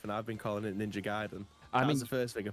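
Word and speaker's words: Ninja Gaiden: I've got it on mute n she says ninja giden so you're right there we go we gram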